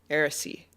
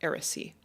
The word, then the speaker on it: Eressëa: calls of the Valar and sailed to Tol Eressëa. Eressi. Yeah, that's how you pronounce that, Eressi.